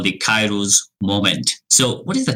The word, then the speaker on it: Kairos: So Kairos is the pronunciation.